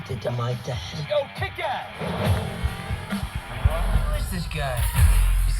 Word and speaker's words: Kick-Ass: Yo, Kick-Ass! Who is this guy? He's claiming to be the world's first real supervillain. Ma come lo pronuncio? Con la A.